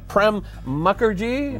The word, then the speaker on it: Mukherjee: now we are joined by our guest uh prem mukherjee am i pronouncing that correctly yes you are hi you